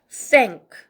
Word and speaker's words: thank: 다음 4번 번데기 발음 아랫니민 사이 혀를 내밀고 그 다음에 바깥에 자 발음 응크 해가지고 합쳐서 thank 한 번에 다 읽어주는 거죠.